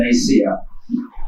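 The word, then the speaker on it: Nicaea: Actually অনেকে নাইকিয়া বলে, কিন্তু কারেক্ট উচ্চারণ হচ্ছে নাইসিয়া।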